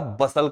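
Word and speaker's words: bustle: इन सभी जगहों पर आपने टी को पढ़ा ही नहीं है, टी को साइलेंट ही कर दिया है, सब जगह पे टी साइलेंट हो गया।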